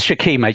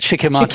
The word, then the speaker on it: shikimate: do have the shikimate I say shikimate you say shikim shik it's shikim shikimate is not correct it sounds like a Japanese food okay sh I'll say